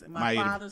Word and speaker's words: Maida: Maida. You gotta say it right, Poison. You said Miata. I said Maida.